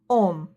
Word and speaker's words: homme: Letter H is quite unique letter in French, and H is almost never pronounced. For example, homme, héros.